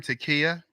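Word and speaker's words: taqiyya: know have you ever heard of the term takia yes i forgot what it is though you spell it t-a-q-i-y-y-a listeners out there t-a-q-i-y-y-a what that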